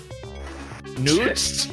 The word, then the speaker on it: Nut: I would assume it's Newt and not Nut. It's spelled Nut. It's spelled Nut, N-U-T. At least on Wikipedia, it's spelled Nut, and it's weird. In the writing system, they didn't really use vowels, so it could have been pronounced Nut.